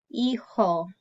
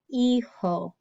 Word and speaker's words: hijo: So that H is silent, and then we've got the jota, the J that makes the sound in Spanish.